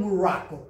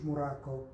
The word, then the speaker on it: Morocco: I am from Morocco. مش موراكو هو المغرب.